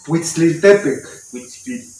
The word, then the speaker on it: Huitzilopochtli: Y ya, pero lo tienes que decir así rapidito y acentuarlo en la penúltima sílaba. Tienes que decir Huitzilopochtli. Y aquí Huitzilopochtli.